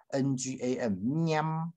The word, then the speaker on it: 念: 那个念啊，这个念这个字要特别留意，是 ng 啊 am 哈 ngam 念啊，这个是鼻音加闭